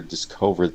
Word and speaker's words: discovered: So yeah, partly it's the the air and then I think you switch the vowel to kind of a and I would do a uh so disco discovered manager discovered that the calendar and